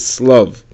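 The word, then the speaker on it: שלו: The Gemara says that it's spelled shlav, but it is read slav.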